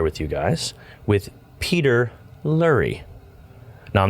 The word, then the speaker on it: Lurie: himself what's up man lurie lurie lurie it's pronounced like murray i've been saying that